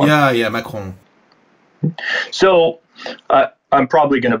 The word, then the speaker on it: Macron: How do you pronounce his name right? Emmanuel Macron is what we call him. Yeah, Macron. So I'm probably going to butcher this, but Macron.